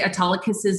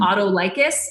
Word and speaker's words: Autolycus: read us the Odyssey she would say atala kisses name wrong and we call him Autolycus and I would correct